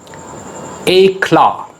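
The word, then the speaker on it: éclat: c l a t a claw stress is on k second syllable you must know what is syllable syllable is the smallest unit of sound in a world just let's look at this word there are two syllables hey claw the stress is on claw a claw a brilliant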